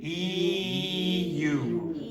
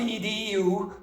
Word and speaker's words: EU: and How do you pronounce that first letter? Where are you now? The the EU. Okay, so not the EDU. Okay, the EU. So again. EU.